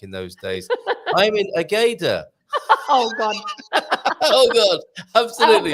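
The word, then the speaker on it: Águeda: That's an interesting word to pronounce, isn't it? Agada. Agda, also with an accent on the A. That's why you pronounce Agda. Otherwise, Agda. it would be Ageda.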